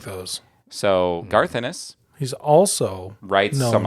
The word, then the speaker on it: Ennis: I don't think it's pronounced Enos. It's yeah.